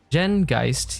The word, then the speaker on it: Geist: Jen Geist, yes, that's how it's pronounced, born in 1815, comes